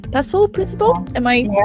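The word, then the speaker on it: PESTEL: think it's called P pesel principle am I saying it correctly yes you are saying it correctly yeah it's got a t but it's not pronounced I think we just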